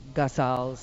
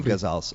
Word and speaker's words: ghazals: I had to start reading some of the ghazals.